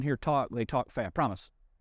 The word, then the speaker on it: Promise: Promise. You don't hear promised with a D.